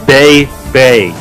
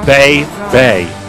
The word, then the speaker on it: Bay Bay: chanting Adam cold baby you're saying it wrong it's Bay Bay you're hangin extra Iggy in there Bay Bay you say wrong at